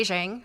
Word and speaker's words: Zhang: My name is Zhang, rhymes with Beijing, if that helps you remember.